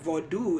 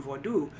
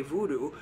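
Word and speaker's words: vodou: attempt to make another tradition spooky right the vodu is actually the way that it's pronounced in terms of Haitian vodu which is the tradition that people are usually referring to when they say Voodoo but even the spelling of that um at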